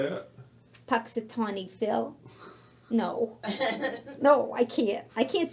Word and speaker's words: Punxsutawney Phil: anybody pronounce the hedgehog's name? Punxsutawney Phil. Phil. Say it louder now. Punxsutawney Phil.